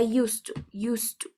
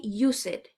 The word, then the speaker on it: used to: In this case, the pronunciation can be like used, right? Like a T. But because you have another T next to it, the sound combines. Okay? The sound combines. So the only thing that you have to say is I used to. Okay? Okay. Okay. Please don't say use it.